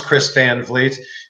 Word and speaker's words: Chris Van Vliet: having me on and also thank you for pronouncing my name correctly I know it doesn't look the way it sounds Chris Van Vliet but if you like Pro Wrestling you probably